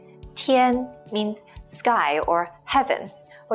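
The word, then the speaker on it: 天: nothing go being Beyond is pronounced as TN Tien means sky or heaven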